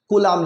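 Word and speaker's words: Coulomb: आपकी नूतन पब्लिकेशन में कूलाम लिखा है, तो कूलम ये इंग्लिश प्रोनाउंसिएशन है और हिंदी में हम लोग क्या कहते हैं, कूलाम कहते हैं, ठीक है।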